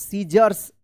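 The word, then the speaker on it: scissors: एस सी I double S ओ आर एस सीजर्स क्या पढ़ेंगे? सीजर्स यहां पर सी साइलेंट रहेगा।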